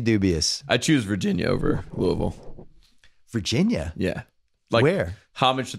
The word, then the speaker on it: Louisville: should say it correctly Louisville so Hayley our shyness it doesn't get mad at me Louisville Louisville I would say Louisville but its Louisville Louisville you have to say it like you drunk Louisville but apparently they